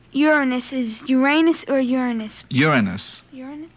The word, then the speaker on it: Uranus: Uranus. Uranus? It's a correct pronunciation is Uranus.